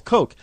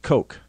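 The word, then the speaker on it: Koch: you know or Charles kooch that's the problem liberals hate the kooch family and for those of you in Rush limbal Ria Linda that's K C but they pronounce it Coke it's not c as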